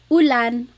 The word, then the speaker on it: ulan: So, ulan, rain and chair. Uh, oo. Not like under or umbrella. The letter U in Bagalog has an ooh sound.